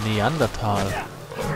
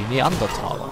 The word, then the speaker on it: Neanderthal: who are you a neanderthal neanderthalo how do you pronounce them Neanderthal but the correct German pronunciation would be neanderthala of course well in